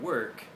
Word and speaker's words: work: And when you say walk and work, try to match me or another native speaker. And once you can do that, once you can master especially the er sound, work, your pronunciation will be